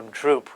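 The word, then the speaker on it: སྒྲུབས: So droop would be the phonetics for this Tibetan word. If we were going to transliterate this Tibetan word into English letters or Roman letters, we would have BS-GRUBS. That has nothing to do with the pronunciation.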